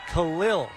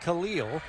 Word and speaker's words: Khalil: a public service announcement for the proper pronunciation of this man's first name to my left it is Khalil Shakir not Khalil so make a note of it Bills fans